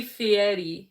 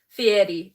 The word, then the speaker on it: Fieri: his name because, well, they say Fieri. Fieri? Because he's Italian. It's an Italian style name. Fieri.